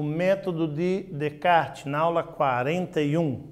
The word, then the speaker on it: Descartes: se nome de kart quando se escreve normalmente os alunos falam descartes não é bota enche de essa ali mas é para ler tirando os essas nessa nesse nome e ele propôs uma